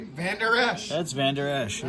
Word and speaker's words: Vander Esch: That's Vander Esch.